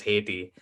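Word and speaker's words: Ayiti: So I pronounce it IT. But Gotcha. when I just came here and I say I'm from IT, they're like Tahiti, or they will say something else.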